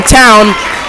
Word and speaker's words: Town: Number 22 for the Fighting Irish, Bristol checks in, and Ryan Town, not Towney, Town, checks in for Dukes.